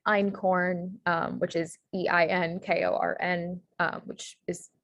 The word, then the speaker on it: einkorn: um so the e-i-t um there's also like einkorn which is e-i-n-k-o-r-n which is pretty much the